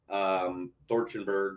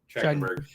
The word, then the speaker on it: Trachtenberg: I read an article about from Dan Thorchenberg or whatever how you pronounce his last name. Trachtenberg.